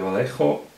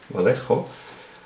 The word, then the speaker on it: Vallejo: I think it's Spanish, and then it'll be pronounced Vallejo paints, and they are not really available in Switzerland.